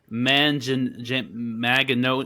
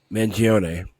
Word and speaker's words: Mangione: Yeah, it's Luigi Magano. I can't pronounce his last name. Mangione.